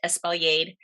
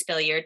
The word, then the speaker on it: espaliered: still provides a ton of fruit is it's pronounced espaliered um a lot of people mistakenly pronounce it as spilliard that's fine but these are the sort of